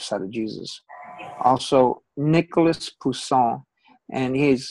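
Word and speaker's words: Poussin: of Jesus also Nicholas Pon and he's his name is spelled rather interesting it's French p o u SS i n now when be sonier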